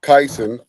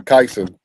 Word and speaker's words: Kyson: Kyson is how you pronounce the name. Kyson.